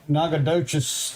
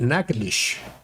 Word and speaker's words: Nacogdoches: in Louisiana, they pronounce it Nacogdoches. Nacogdoches. Across the state line, it is pronounced Nacogdoches.